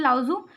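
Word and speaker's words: Lao Tzu: और टाओइज्म के फादर थे, फादर ऑफ टाओइज्म, लाओ जू। ओके, ये टी यहाँ पे साइलेंट है, लाओ जू।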